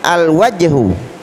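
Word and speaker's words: الوجه: Berikutnya al-wajhu. Al-wajhu, jelas, alif lamnya dibaca al. Kenapa? Karena waw adalah huruf Qamariyah, ya, huruf Qamariyah.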